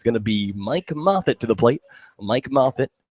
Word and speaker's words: Moffatt: the plate Mike Moffet you may know him as Mike Moffat if you read things phonetically spelled mo FF ATT but I guess the ATT makes a nice sound grounder to third on